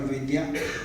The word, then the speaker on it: Vaidya: He doesn't like to be called Vaidyanathan or Vaidi. He wants to be called Vaidya.